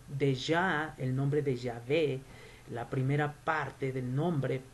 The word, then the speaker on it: Yahvé: nombre de Dios es Yahvé o Yahweh, ya sea una V o una W.